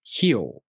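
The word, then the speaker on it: ひよう: This is pronounced hyo.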